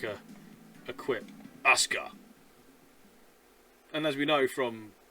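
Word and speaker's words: Aska: like a a quip Asca. And as we know from Tekken and wrestling, if you spell the name Asuka, there's a U in it.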